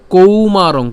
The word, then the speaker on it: কৌমারং: এরপর ইয়া দেহে এরপর কৌমারং কৌ কেন এখানে ঔকার আছে এজন্য তাহলে কৌমারং ইয়বনং